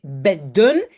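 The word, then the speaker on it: bedden: Double D ou double consonne. Donc, double D protège le E. Donc, ça veut dire qu'il reste court. Je vais prononcer beden.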